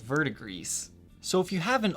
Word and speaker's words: verdigris: to actually pronounce that I'm going with the Google pronunciation verdigris some people think it's vert agree some people think it's pronounced the way it looks vert aggressed so it just seems